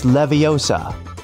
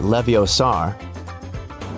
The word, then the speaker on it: Leviosa: help sometimes hey Siri it's Leviosa not leviar measure app is a